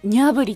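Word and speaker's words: Gnabry: あ、ニャブリってこう GNABY でニャブリって読むんだ。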